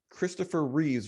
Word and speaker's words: Christopher Reeve: Yeah, so it's not Christopher Reeves, Christopher Reeve.